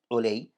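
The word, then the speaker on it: عُلَيّ: But you have concerning the word Ali wa Ulay, that they are written very similar, but they are pronounced different. So with Ain, one as a Fatha, and the other Ain, it has a Dhamma.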